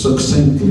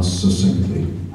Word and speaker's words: succinctly: Well, I'll try to answer this as succinctly because that's the proper way to pronounce it, not succinctly, like success.